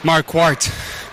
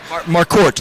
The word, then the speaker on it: Marquart: Um, it's going to be a bit difficult, but it's pronounced Marquart. Marquort, like quartz.